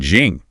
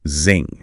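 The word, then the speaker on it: XING: LinkedIn indeed and Jing. Uh Xiang, which they noted might be pronounced more like Zing.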